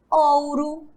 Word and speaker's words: ouro: Pois é, em algumas palavras, o O também terá som de U. Mas observe aqui agora, olha só. Estão achando complicado? Vamos desvendar agora esse mistério. Leiam aqui comigo. Ouro, cachorro, povo e touro.